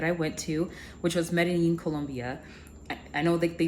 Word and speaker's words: Medellín: went to which was medine Colombia I know that they pronounce it medine I just hate pronouncing the double L's with that J sound so I choose my